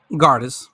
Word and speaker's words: Gardis: How you say her name? Gardis. Yeah, you got it.